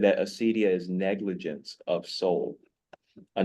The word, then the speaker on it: acedia: But there's an ancient word called acedia. Some people pronounce it Acadia. I just don't do it.